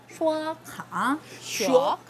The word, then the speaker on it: 刷卡: 刷卡。 네, 刷라는 발음 혀를 약간 말아서 마찬가지로 발음해 주시면 될 것 같아요.